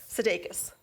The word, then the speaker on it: Sudeikis: I hope I did hey it's like sig elke Sudeikis Sudeikis Andy Sudeikis thank you thank you